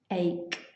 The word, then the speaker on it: ache: let's have a look so the pronunciation is ache ache so hopefully nobody is